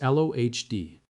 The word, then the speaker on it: Lody: The body chosen to carry the English sheet was Karl Hans Lody, pronounced Lohd.